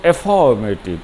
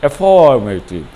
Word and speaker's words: affirmative: আমি দেখেছি ছাত্রছাত্রীরা প্রায় অ্যাফার্মেটিভ বানানটা ভুল করে, কারণ উচ্চারণটা তারা বানান অনুসারে করে না, অ্যাফার্মেটিভ বলে, তাই লেখে তারা AFFARMATIV, কিন্তু শুদ্ধ বানান হলো AFFIRMATIV। তাই উচ্চারণে আমরা বলবো অ্যাফার্মেটিভ, অ্যাফার্মেটিভ।